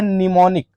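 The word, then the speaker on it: mnemonic: अब आगे आता है निमोनिक क्या आता है निमोनिक इसमें क्या साइलेंट हो गया इसमें एम साइलेंट हो गया है क्या साइलेंट हो गया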